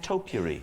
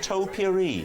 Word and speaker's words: topiary: you pronounce the word topiary so if anybody noticed he went topiri it was like a wonderful mixture of trimming a hedge and a little bowl you have of things that smell nice I say Joe Curry